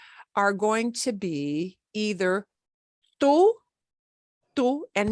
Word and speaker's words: tú: be either tú, and notice it won't be two. Our English way of saying that, like the number two, yeah, it sounds a little bit like our number two, except we tone down that puff of air with the T.